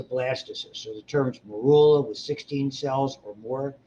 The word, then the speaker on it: morula: Zygote, when it gets to 16 or more, so after the first roughly 4 divisions, it's called a morula. M-O-R-U-L-A. Morula or morula, however you want to pronounce it.